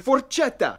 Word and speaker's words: forchetta: In standard, forchetta. In Lombard. Forchetta. C-H-E. It's pronounced ke, like K-E.